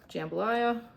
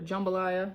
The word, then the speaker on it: jambalaya: Jambalaya or jumbalaya, depending on how you pronounce it.